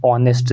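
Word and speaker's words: honest: start होता है लेकिन इसकी जो साउंड है वो एच साइलेंट रहता है साउंड क्या निकलती है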